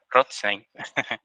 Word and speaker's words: Rothstein: Rothstein, es así si lo pronuncia bien.